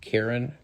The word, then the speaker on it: Charon: Which is very reminiscent of, do you pronounce it Karen? Yeah. Karen, yeah. I've heard both.